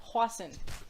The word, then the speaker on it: hoisin: Hoisin. It's pronounced hoisin, not hoisin.